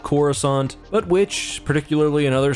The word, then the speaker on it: Coruscant: time, you'll hear that Coruscant is not pronounced like Coruscant, but specifically with a second hard C, Coruscant, and this is one